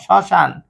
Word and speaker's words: শ্মশান: শ্মশান শব্দের প্রথমে মফলা আছে, তাহলে কি হলো? তাহলে স ছয়কার সা ন, শ্মশান। যেহেতু মফলা উজ্জ, এই পরিবর্তে একটা চন্দ্রবিন্দু হবে।